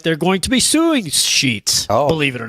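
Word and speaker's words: Sheetz: made his stop at the sheets at the sheets it is pronounced sheets right yes yeah I think I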